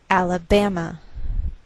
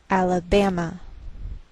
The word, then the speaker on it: Alabama: So the greater stress is on this third syllable. We say Alabama, Alabama.